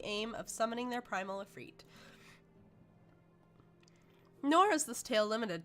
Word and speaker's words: Ifrit: I've heard it pronounced multiple ways. I think it's Ifrit.